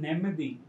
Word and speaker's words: Nemmadi: You pronounce Nemadi correctly.